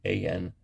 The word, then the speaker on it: Anselm: I can't pronounce it, but his first name, Anselm. I believe the L is silent, but then GRU with